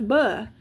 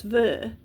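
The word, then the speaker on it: в: are going to say, well, that's b. No, it's not b, that's v, because that's how they pronounce it. So that would be a b in English, but it is not in Russian. It's v.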